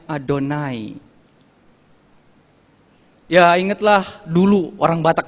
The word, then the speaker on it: Adonai: Israel tidak perlu sebut ketika mereka ketemu kata YHWH, mereka tidak baca Yahweh, berbunyi terdengar seperti saya. Setiap kata YHWH, mereka akan bacanya Adonai.